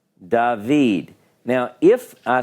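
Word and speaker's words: דָּוִד: yodh and it makes the e so it's dahveed dahveed now if I spell it like the Hebrew Bible does quite often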